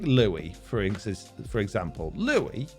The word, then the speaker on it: Louis: for instance for example louie can be spelt lewis but pronounced louis as in the french way of saying it now if someone calls you lewis but your name is louis you know that it's pronounced louie right so you go